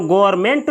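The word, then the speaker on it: government: इस शब्द में दोस्तों यहां पर जो एन है एन का उच्चारण नहीं होता है और इसको पढ़ा जाता है गवर्नमेंट गवर्नमेंट तो दुनिया का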